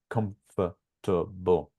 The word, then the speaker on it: comfortable: it into syllables right comfortable so it's four syllables isn't it let's confirm in a